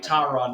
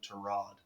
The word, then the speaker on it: Tyrod: give us a reason to pronounce like tyrod like six years ago it's actually terrad like it's like when